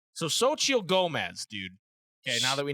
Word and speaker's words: Xochitl Gomez: It's like so Xochitl Gomez, dude.